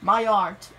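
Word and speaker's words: Mayotte: 1989 my art put it's not it's pronounced my art that's also not a country it's also a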